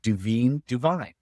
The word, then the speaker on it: DuVine: So I put it together, Levine, Andy Levine, Levine, Duvine. So I thought like it's Duvine.